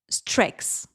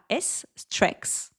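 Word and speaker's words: streaks: La méthode Strex. Ouais. Alors, j'avoue que je la connaissais pas sous le format anglophone, et donc ça s'écrit S-T-R-E-A-K-S, Strex. J'espère que je prononce bien.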